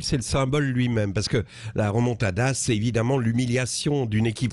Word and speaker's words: remontada: Déjà, sur la forme, le mot espagnol doit se prononcer avec l'accent castillan, vous voyez, pour en préserver une espèce de fierté, quoi. Et la fierté andalouse, la remontada. Mais quand Arnaud Montebourg le prononce depuis Clamcy avec l'accent morvandio, parce qu'il est de là-bas, la remontada, le mot perd quelque peu de sa noblesse.